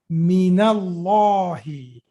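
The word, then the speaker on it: مِنَ اللهِ: The moment min comes before a word that starts with Hamzatul Wasl, we are putting fatha over it. So how you are saying minallahi?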